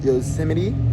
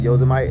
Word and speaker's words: Yosemite: just a little bit under yo it's it's pronounced yosim but I'm pronouncing it yosmite and you can suck my dick cuz I'm